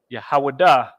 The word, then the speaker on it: Yahawada: to that too so Judah is yahawada well yeah that's the pronunciation I put in English words right